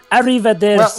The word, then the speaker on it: arrivederci: frog speaking of fraud cappella yes travelers it's pronounced arrivederci well it's for now sorry with LGU [